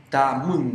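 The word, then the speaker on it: tamün: Tamun. Ahí está la U esa que cuesta pronunciarla un poco. Tamun. Es como Tamun. Tamun. Tamun. Es Tamun. como una U más baja, así.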